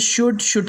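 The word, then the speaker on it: should: उसके बाद में वुड के बाद में शुड के बाद में कुड के बाद में वॉक, इस तरह से इसे प्रोनाउंस करा जाएगा।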